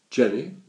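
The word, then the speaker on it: Genny: "Jenny? She's called Jenny?" "Yes, but spelt with a G.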